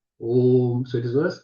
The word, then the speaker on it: Om: So Om, from the Mandukya Upanishad, is explained in Prashna Upanishad, Om is made up of 3 letters. A, U, Ma. Akara, Ukara, Makara. Yet it is pronounced Om.